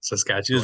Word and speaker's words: Saskatchewan: Danica Besley, who works at Regina University in I I don't know how to pronounce that place, Saskatchewan in Canada. Saskatchewan.